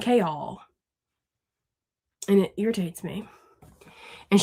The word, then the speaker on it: Chaol: Mass said that his name is pronounced kale, right? Like the vegetable kale. It's just spelled differently. But the narrator calls him chaol. So I'm over here saying kol and it irritates me.